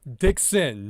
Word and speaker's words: Dixon: I couldn't even say my name because it's Dixon, not the other word. It's Dickson. two different words, but I always have to say pause.